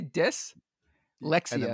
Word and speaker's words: dyslexia: is this a bit how do you say it dyslexia say dis Lexia Lexia okay so whippy Goldberg